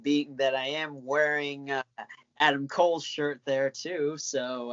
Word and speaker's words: Adam Cole: that I am wearing Adam Cole's shirt there, too, so I... Wait. You didn't say it right. It's Adam Cole.